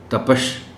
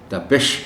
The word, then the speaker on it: تپش: کا تلفظ ہے برس۔ تپش، جسے عام طور پر تپش پڑھا جاتا ہے، یہ لفظ تپش نہیں ہے بلکہ تپش ہے۔ برف، ہم بار بار